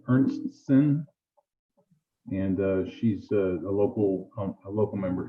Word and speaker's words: Ernstsen: pronounce her name Ernstson, and she's a local member here.